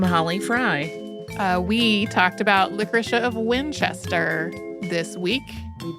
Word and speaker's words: Licoricia: confess to you that I have always pronounced it with a harder emphasis on the o so it's like licoricea like this week fine